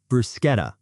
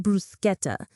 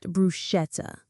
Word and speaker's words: bruschetta: Bruschetta. Bruschetta. Italian bruschetta has tomatoes and basil on toasted bread. It's pronounced bruschetta, not bruschetta.